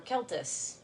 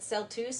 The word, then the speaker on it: celtuce: in eating it today we're going to talk about celtuce or keltus or celtuce I looked up how this is pronounced in the Internet's at celtuce and I hate it but it is literally a portmanteau of celery lettuce so we'll go with celtuce I like keltus keltus sounds nice but yeah celery lettuce